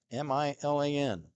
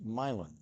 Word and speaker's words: Milan: out of Milan Ohio m i l a n if it were in Italy it would be Milan but in Ohio it's milin there's a whole slew